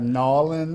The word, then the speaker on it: New Orleans: from New Orleans now how do you say New Orleans New Orleans New Orleans okay I love it I love it you have norleans nans and all those uh New Orleans New Orleans yeah no oron that that